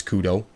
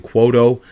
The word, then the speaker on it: Kudo: we talked to Brandon the pronunciation for his name is Kudo so just like the phone company that was our fault we were saying quoto uh uh just based on the spelling it looks like it might be